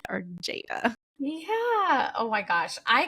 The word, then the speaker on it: Jadah: much for being here Jada like Prada yes Jada like Prada I used